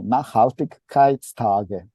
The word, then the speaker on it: Nachhaltigkeitstage: So we will have from tomorrow until 22nd of September, Berner Nachhaltigs, Lucas, you have to correct me, Nachhaltigkeitstage. Yeah, I pronounce it well, yeah.